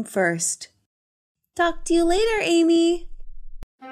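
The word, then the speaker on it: Aimee: your name not amy amy no but it sounds the same how do you spell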